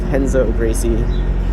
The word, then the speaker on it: Renzo Gracie: so the gym I go to is called henzo Gracie uh it's spelled Renzo Gracie and then you know every